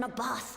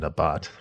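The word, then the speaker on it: Nabaath: The tower is replete with light from Nabath Aren. Oh, Nabath. I thought you say it. I've been saying Nabot or something. Actually, I wasn't saying it right.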